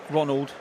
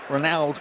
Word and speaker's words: Ronald: We were told say it like Ronaldo without the O.